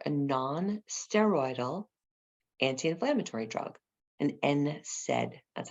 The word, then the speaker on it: NSAID: Ibuprofen or Motrin, it's used as an NSAID, an NSAID. Okay, so NSAID stands for a non-steroidal anti-inflammatory drug, an NSAID. That's how it's pronounced.